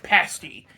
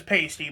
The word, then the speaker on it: pasty: We have the Tiki Masala Fritters and a Cornish Pasty. I know it looks like it says pasty, but I have been assured by British people that it is pronounced pasty.